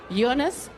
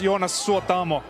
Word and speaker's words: Jonas: hello ladies and gentlemen jonas suatomo hi how are you this evening i'm very good it's pronounced iona tongue twister it is